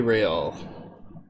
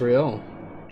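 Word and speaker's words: réal: you owe me 130 real what's real or i don't know you should what's real oh excuse me you owe me 130 he pronounces the r with a mock aristocratic accent the iir or interra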